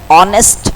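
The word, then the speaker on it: honest: Mister Farhan is dash ऑनेस्ट मैन. क्योंकि यहां पर आप एच को साइलेंट करते हैं और इसको आप ऑनेस्ट पढ़ते हैं.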